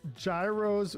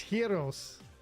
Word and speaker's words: gyros: So Jigawatt says gyros with a hard J sound. If I was a Greek person, I would yell at you for that. All right. Thank you, Kevin. Thank you for the good luck. Why? Why would I yell at you for that, Jigawatt? Because a Greek person yelled at me for saying it that way. It's heros.